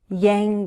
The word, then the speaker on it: Yang: The NG sound is a voiced sound, and it's similar to N, but we use the back of our tongue. The back rises toward the roof of the mouth. Yang. Yang Gang.